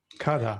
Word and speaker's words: kadha: How do you It's spell that? actually it's called KADHA. It's K called card K K KADHA. A. Okay. Kada.